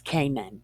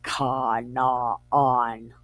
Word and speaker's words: Canaan: You know it as Canaan, but I don't trust that pronunciation because lowercase a is ah, and this is Canaan. That's what I believe it is.